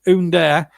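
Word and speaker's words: Ünder: things like that as under comes on i think that's how you pronounce it it's spelt under but it's under and he replaces uh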